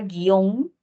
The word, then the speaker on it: guion: ejemplo aquí reconocer que la u no suena y si no suena No la contabilizo como como se secuencia vocálica no la puedo pronunciar Por qué Porque aquí la u forma parte de la G es un llamado dígrafo